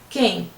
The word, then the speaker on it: quem: Quando você fala quem, o QU tem o som de K, quem.